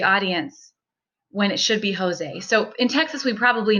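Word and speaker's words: José: most countries in the world they would not pronounce that Jose or Josie so you lose a lot of credibility or at least confuse the audience when it should be Jose so in Texas we probably know that pronunciation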